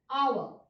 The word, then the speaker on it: hour: But again with some of the words where the first letter is silent, like here the letter H is silent and the vowel sound comes, hour.